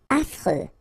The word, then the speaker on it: affreux: Affreux. Final X not pronounced, and then you get this freux, freux, affreux.